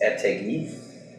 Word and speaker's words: Ettedgui: So it's Ettedgui. So you pronounce it with like every letter in there.